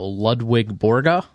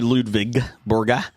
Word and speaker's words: Ludvig Borga: Uh, Doug says, "Uh, did you watch Dark Side of the Ring about Lwig Borga?" I missed it, but man, that was one I wanted to see. It's actually Ludvig Borga.